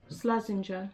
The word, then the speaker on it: Slazenger: How do you pronounce that? Slazenger? Slazenger.